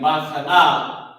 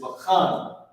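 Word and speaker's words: בחן: Instead of it being bachana, it loses this ah sound. And it's just bakhan instead of bachana.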